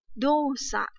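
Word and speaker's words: 動作: Ví dụ chúng ta có từ là dosa. Dosa. Nó phải có trường âm nhá.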